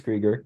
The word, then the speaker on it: Krieger: So next we're going to talk to Joseph, followed by Krieger. Is that how you say it? It's Krieger, but yeah.